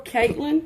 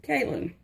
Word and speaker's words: Kaylin: I said before Caitlin. I think it's pronounced Kaylin.